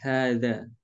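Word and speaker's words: هذا: Maka kalau pelafalan kita biasa memanjangkan. Hadza. Hadza. Kita harus satu alif ya.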